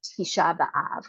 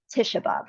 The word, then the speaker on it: Tisha B'Av: portion every year after Tisha B'Av, or some of you might know the traditional Ashkenazic pronunciation, Tisha B'Av, the 9th of Av, the